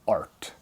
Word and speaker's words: EART: an EART guitar, or as I used to pronounce it up to a week ago, EART. I thought it was EART. It's E-A-R-T, but I've come to realize from some folks that it's actually I forget what it stands for, something, and then it's actually ART.